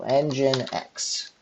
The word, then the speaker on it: nginx: are going to sue apt install nginx let's spell it right now engine X okay and I didn't do attack y so